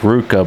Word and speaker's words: RVCA: the brand uh with Ruka but it's spelled RVCA like the clothing brain it's actually you know that V is actually a u let's start no idea